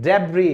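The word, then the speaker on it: debris: फिर कचड़ा, मलबा, उसको हम क्या कहते हैं, उसको हम कहते हैं डेब्री। डेब्री क्यों बोलेंगे, क्योंकि एस तो हमने साइलेंट कर दिया।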